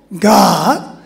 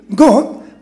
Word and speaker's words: God: But when you say uh in British English our mouth stays small God however in American pronunciation it becomes God with the mouth wide open. Here we usually say it pretty way God but I think it might be better to say American way God Amen.